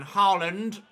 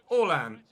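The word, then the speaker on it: Erling Haaland: all ant rather than harland but in norwegian it's pronounced so i pronounce it orlan just the same way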